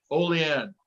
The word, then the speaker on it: Olean: and by the way gunner also said it's probably olean see gunner i said it that time without looking at how to pronounce it which you mentioned earlier olean i just want i learned something today oleand there we go